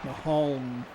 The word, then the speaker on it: Maholm: Maholm.